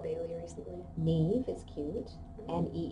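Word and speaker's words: Niamh: if we had Bailey recently NE is cute n e e v e well oh wait wait gosh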